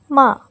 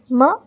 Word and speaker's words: 吗: Both of them are pronounced in neutral tone.